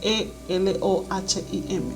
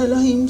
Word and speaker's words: Elohim: Se escribe E-L-O-H-I-M, Elohim, que fueron los primeros seres individuales de toda esta creación.